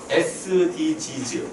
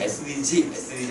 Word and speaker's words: SDGs: SDG즈 이게 정확한 발음이에요. 사람들은 SDG SDG 하는데 SDGS 이렇게 하는데 아니에요. 정확히 바음은 제 교과에서 나와 있어요. sg즈라고 해야 돼요.